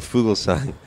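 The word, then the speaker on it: Fuglsang: the tour yeah cool fool sang he was he Jakub fool science and silent G he was seventh he's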